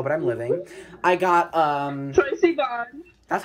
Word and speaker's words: Troye Sivan: I got, Troy Sivan.